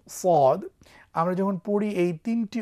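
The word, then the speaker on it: صاد: উচ্চারিত হলেও আপনারা দেখছেন এই সদ হরফটি উচ্চারণ করবার সময় অবশ্যই আমরা যেন মোটা করে উচ্চারণ করি এবং শীষ দিই। আপনারা আমার সঙ্গে পড়ুন, সদ সদ, স সুই সো, স সুই সো, আবার সদ, স সুই সো।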